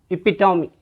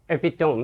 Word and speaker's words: epitome: noises that is pruhaha the next word is epitome some students and some teachers pronounce this epitome no this is not correct the correct pronunciation